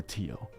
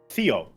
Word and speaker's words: Theo: should I pronounce this is Theo or Tio Theo it's Theodore Theodore it's Theodore my full name Theodor call me Theo it's just a Theo yeah it's usually how